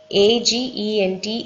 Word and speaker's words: agent: கவராயிடும் next வந்து agent A-G-E-N-T is pronounced as agent because நமில்க்கு வந்து G-E-N-T தெரியும் short vowel sound use பண்ணி gent அப்படின் சொல்லி pronounce பண்ணும் முன்னாடி A வந்திருக்கு it takes long vowel sound agent so long vowel A